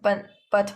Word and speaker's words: 不: But when bu is followed by a syllable in the fourth tone, like this, fourth tone, then the sound of it changes into the second tone, which is bu.